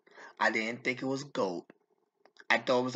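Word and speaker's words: Gould: didn't think it was gold I thought it was like God or something or you know I thought I didn't think it was gold but it is pronounced Robbie Gold okay fine Robbie Gold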